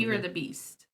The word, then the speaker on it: Eeyore the Beast: Eeyore the Beast. What? Eeyore the Beast. Eeyore. Oh, Like the Winnie okay. the Pooh character.